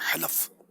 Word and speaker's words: حلف: دوسرا سوال کا حصہ تھا کہ حلف صحیح تلفظ ہے حلف.